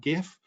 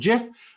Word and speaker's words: GIF: coming across web p it's a bit like gif or gif depending on how you want to pronounce it i know there's a war out there about uh gif and jeff but uh i've always called it uh gif because it's graphics interface uh format but uh webp is